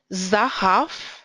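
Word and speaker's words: זָהָב: Zahav, that's an open syllable, and a closed one, but stressed. Therefore, zahav.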